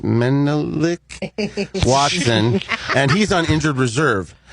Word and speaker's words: Menelik Watson: It's pronounced Menelik Watson, and he's on injured reserve with a foot injury.